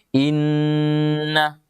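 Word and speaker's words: إنّ: Jadi inna, ini agak lama. Iya, tidak cukup kalau kita membaca inna. Iya, harus inna.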